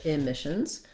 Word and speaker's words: emissions: Moving right from the B to the N syllable may help you. Carbon. Very short, reduced vowel. Then, not emissions, but emissions.